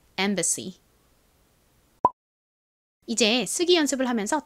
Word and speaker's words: embassy: 발음은 가장 앞에이가에 소리 나고 m이 미음 소리 b는 비읍 소리 a는 아에 a 어 소리 중 어에 가까운 소리가 난다고 말씀드렸죠. 가장 끝에는 SSY가 왔는데요. SY는 C 혹은 Z 소리가 나고 주로 Z 소리로 쓰는 경우가 많은데 SSY는 C 소리가 납니다. C 한국식으로는 보통 C라고 쓰지만 실제 발음은 좀 세게 발음이 나는 경향이 있습니다. 연결해서 발음해 보면 embassy가 되죠.